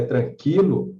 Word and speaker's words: tranquilo: repente ele pode perguntar com a retirada do trema da palavra tranquilo o o também não precisa mais ser pronunciado a pronúncia é tranquilo não é claro que não abram ser é tranquilo como sempre foi Tá beleza então então